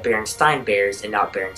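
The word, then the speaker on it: Berenstain: you may have just noticed that I said Berenstein bears and out there and steam bears oh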